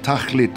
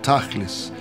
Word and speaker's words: tachlit: There's another word in Hebrew which is spelled almost identically to techelet. The word is tachlit or tachlis, which means the end or the purpose.